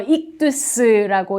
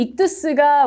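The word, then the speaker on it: ἰχθύς: 이거 익두스라고 있습니다. 익두스. 지금 맨 위에 있는 건 영어를, 그리스어 발음을 영어로 표현한 거고요.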